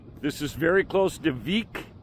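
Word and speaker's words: Vík: is very close to week VI K pronounced week Iceland a tiny little town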